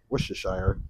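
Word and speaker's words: Worcestershire: tablespoon of whes Shire and that's how you say it wishes Shire it's not that difficult uh so there's a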